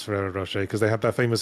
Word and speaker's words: Ferrero Rocher: See, I didn't pass it because I've always known how to pronounce Ferrero Rocher because they had that famous advert.